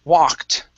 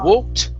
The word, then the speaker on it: walked: Next is, let's see, the word walked. Okay, instead of walked with an O sound, it's an ah.